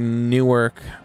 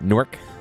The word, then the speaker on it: Newark: Pronouncing Newark with 2 syllables. What is it? Newark?